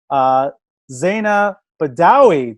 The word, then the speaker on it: Zaina Badawy: Zaina Badawy.